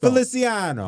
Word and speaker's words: Feliciano: That sounds like you are mispronouncing his name. Feliciano.